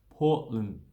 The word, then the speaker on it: Portland: So we don't really shorten that, just say Portland. Portland. So, okay, so we say Portland. We usually don't say the D. Don't know why, we just cut it out. So Portland. Portland, you can say Portland, but Portland, for an Australian speaker, saying Portland just takes too much of it.